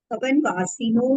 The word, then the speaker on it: भवनवासिनः: भवनवासिनो सुरनाग विद्युत सुपर्णाग्निवात वात स्तनितो दधि द्वीप दिक्कुमारः। लेकिन नाम बताए हैं वो 10 प्रकारों के। भवनवासिनो यानी भवनवासियों के, अब यहाँ अ साइलेंट है, इसमें से अ निकलेगा।